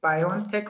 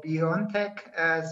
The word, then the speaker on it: BioNTech: I think it's pronounced BioNTech. One of our producers confirmed. Is that right? Are we pronouncing your company name right? Yeah, you can pronounce it as BioNTech or BioNTech.